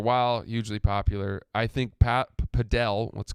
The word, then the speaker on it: Padel: Padell. Can you spell it? P A D E L. Now some people purists will say it's pronounced paddle.